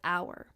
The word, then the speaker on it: hour: For example, let's look at the word hour. Hour begins with H, which is a consonant. However, we pronounce it with an O. The H is actually silent.